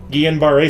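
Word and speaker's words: Guillain-Barré syndrome: a there we go that one I actually know how to pronounce because they say it on the show a lot Ian barrei syndrome it explains the paralysis in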